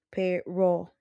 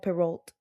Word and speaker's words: Perrault: Era un hombre de muy baja estatura y muy francés que pronunciaba Perrault de forma correcta. Perrault, no Perrault.